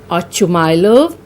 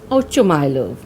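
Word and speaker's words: Ochumelov: Some call this Ochumylov or Oshumylov. I'll be pronouncing it as Ochumylov.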